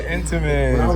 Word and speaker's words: Entenmann's: We got them Edamons. Edamons. And then back here. What are Edamons? Over here. Oh, Edamons. I said it wrong. Got the Entenmann's When I was right little, I there.